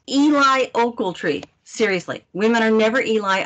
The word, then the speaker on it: Eli Ocheltree: you already explained oh my name is pronounced eli oakletry seriously women are never